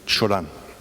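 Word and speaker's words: Cioran: and aphorist em or if you pronounce it in Romanian Chan in a short history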